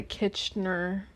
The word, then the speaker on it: Kitchener: Let's look up and see what the Kitchener Is that how you say it?